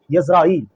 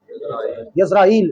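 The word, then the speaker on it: ישראל: لفظ اسرائیل کا تعارف۔ لفظ تو در اصل لفظ اسرائیل نہیں ہے، اس کا تلفظ ہے وہ ہے یزرائیل۔ کیا ہے؟ یزرائیل اس کا تلفظ ہے۔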